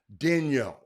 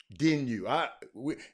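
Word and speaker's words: Daigneault: It's it's spelled Daigeneault. It's a Canadian name. It's pronounced Dino. Dino. Dinu.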